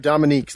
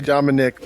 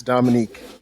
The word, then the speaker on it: Dominique: Yep, Dominique. A lot of people say Dominic, but it's Dominique. Dominique. There's a little extra on the end there.